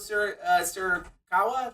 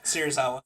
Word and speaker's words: Serizawa: Did they ever explain, by the way, what Surikawa? That's his name. Serizawa.